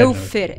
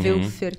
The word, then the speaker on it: Woelfer: Como é que se escreve? Velfer é W-O-E-L-F-E-R. É alemão, né? Uhum. Velfer.